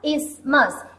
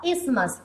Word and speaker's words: isthmus: It is pronounced as isthmus. T and H are silent here. T and H are silent here. So it is pronounced as isthmus.